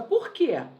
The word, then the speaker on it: por quê: oração ou sozinha novamente usamos o acento porque essa forma é pronunciada de maneira forte tônica também pode ser apresentado